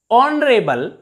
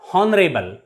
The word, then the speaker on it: honorable: r air not here honorable not honorable pay attention to the pronunciation of these words in these words h is always silent that's why we use